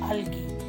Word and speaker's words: algae: these two are mosses and alky learn to pronounce this word this is algae mosses are small green seedless plants and where